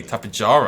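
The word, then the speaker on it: Tapejara: the tabajara i think hey you heard me tapijara i actually pronounced it correctly for the first time in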